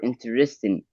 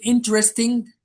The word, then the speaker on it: interesting: But take care of the pronunciation of the word interesting. Interesting and not interesting. Take care. The stress falls on the first syllable.